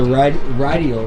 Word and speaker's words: Rideal: The Rideal, right? Is that how you pronounce it?